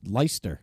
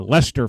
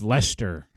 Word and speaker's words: Leicester: worchester and where there's leicester leicester lyster yeah uh lester folks it's lester all right here are